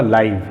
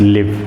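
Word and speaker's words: live: और ये जो इसी से रिलेटेड एक और वर्ड मैंने दिया आपको, इसके दो प्रोनाउंसिएशन होंगे, एक लाइव होगा और एक लिव होगा।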